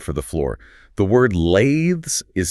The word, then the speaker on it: lathes: The word lathes is spelled l a t h e s. The a is a long sound and the t h actually vibrates in your throat. It rhymes with the word bathes.